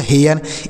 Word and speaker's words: hair: है, AI के साथ आर है तो इसका उच्चारण ए होगा। उसके बाद आर से र, तो यह हो गया हेयर।